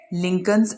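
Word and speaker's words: Lincoln: He qualified from the लिंकन्स इन, वो लिंकन्स इन से तालीम याफ्ता हुए। एज अ ब्रिलियंट बैरिस्टर, एक मुमताज़ बैरिस्टर की हैसियत से, लिंकन का ये एल साइलेंट है।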